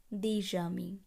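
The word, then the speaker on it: des amis: এই ক্ষেত্রে আমরা বলবো দেজামি, অর্থাৎ এসের সঙ্গে পরবর্তী আ ভাওয়েলটি একত্রে উচ্চারণ হবে দেজামি।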